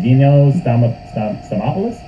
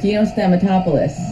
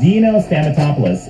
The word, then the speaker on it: Dino Stamatopoulos: So she's actually working with, how do you pronounce his name? Dino Stamopoulos? Oh my god. Dino Stamatopoulos. Dino Stamatopoulos, and they are working on a graphic novel together called Trent.